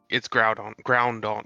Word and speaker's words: Groudon: It's Groudon, like ground.